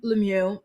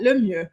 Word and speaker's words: Lemieux: couple Brennon and Alexa Lemieux decide. Why am I pronouncing it like that? Lemieux. Their last name is French and it means the best.